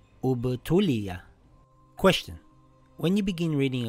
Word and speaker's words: ٱبْتُلِىَ: And if I begin reading here, this will read أُبْتُلِيَ. أُبْتُلِيَ.